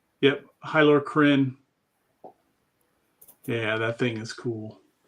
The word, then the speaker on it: Hylar Kryn: This one, the Hylar Kryn, is correct my pronunciation? Yep, Hylar Kryn.